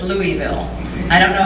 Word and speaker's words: Louisville: do have to say although I pronounce it Louisville as well my husband was also raised in this city and he insists that it's Louisville I don't know how